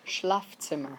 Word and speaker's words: Schlafzimmer: And that last word is pronounced Schlafzimmer.